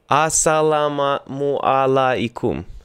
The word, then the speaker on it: Assalamu alaikum: Assalamu alaikum.